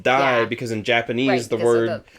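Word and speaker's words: 大: The kanji for big gets used but it gets pronounced die because in Japanese the word die means big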